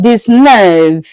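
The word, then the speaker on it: dix-neuf: This nerve.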